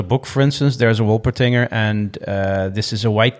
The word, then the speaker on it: Wolpertinger: It's called a Wolpertinger A Wolpertinger. Wolpertinger, yes, indeed. Yeah, right. But in this particular book, for instance, there's a Wolpertinger, and this is a white cat with duck wings and antlers, right?